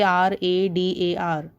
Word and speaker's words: radar: is pronounced as radar you don't say r-a-d-a-r you pronounce it as